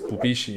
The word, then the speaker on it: Bubishi: Incidentally, the name Wubeizhi is pronounced as Bubishi in Japanese, and this is the